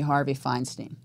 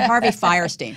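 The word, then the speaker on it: Harvey Fierstein: For my mother, I want it to be Harvey Feinstein. Wait, that's already been done before. Wait, Harvey Firestein. I pronounced his name wrong.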